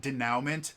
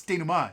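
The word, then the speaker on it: denouement: And it's super super fun if you have writing friends to just pronounce it denowment.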